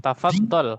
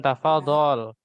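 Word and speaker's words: تفضل: Ya, tafaddal. Ya, tafaddal. Ya, bukan tafadhol.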